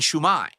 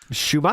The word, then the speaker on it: shumai: Yes, and shumai. Shumai. He's emphasizing the second syllable weirdly.